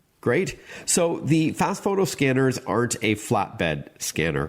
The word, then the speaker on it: FastFoto: So, the name of the product is Fast Photo. And we should tell our listeners it's spelled F A S T F O T O.